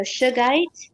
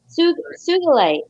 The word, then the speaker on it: sugilite: And then this, a shugite. Shugite. I always forget how you say it. It's an old vintage Are you native trying to say sujolite? sugilite.